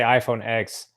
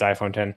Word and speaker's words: iPhone X: Yeah, well, I say so because I know when I say iPhone X, my wife looks at me like I'm a complete asshole and then lets me know that I'm, saying it wrong. So I think it's iPhone 10.